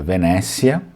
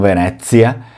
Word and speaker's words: Venécia: Então, ó, Venécia, sem acento, tá, pessoal? Não tem acento, é Venécia e não Venezia.